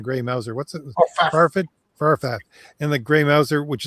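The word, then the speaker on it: Fafhrd: I always call it Farfel and the Gray Mouser. What's it? Oh, Farfat and the Gray Mouser, which is also done by Marvel, I think.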